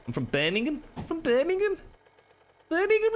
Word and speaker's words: Birmingham: It's Birmingham. That's it. Some people say Birmingham, but Birmingham. Birmingham. Gum. It's got a gum to it from people from Brum. Birmingham. I'm from Birmingham. I'm from Birmingham.